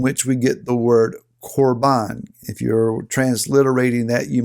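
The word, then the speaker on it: korban: root word from which we get the word corbin if you're transliterating that you might spell it k-o-r-b-a-n or carbon is an offering that we put on the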